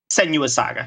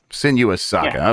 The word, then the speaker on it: Senua: you know I always wanted to say sinua senua Saga sen senua Saga okay senua Saga hellblade 2 uh they have